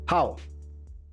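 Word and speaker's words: Pau: The women are ending in How? And I don't even want to hear. I don't want to hear about the pronunciation. It's P-A-U.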